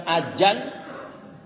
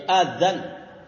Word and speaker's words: azan: Pakai zal ya, pakai zal, bukan pakai z. Bukan azan, bukan ajan, tapi azan. Bukan pula pakai dal. Kalau pakai dal itu orang Sunda, adan gitu.